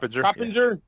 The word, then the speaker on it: Coppinger: Coppinger.